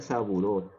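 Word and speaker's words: Sabouraud: Se escribe Saburao, pero se pronuncia saburot, verad.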